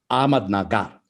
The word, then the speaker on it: Ahmednagar: How do you pronounce that city where you are currently based? My city is Ahmadnagar. Ahmadnagar.